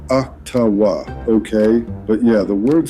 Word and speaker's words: Ottawa: It's pronounced Ottawa, okay?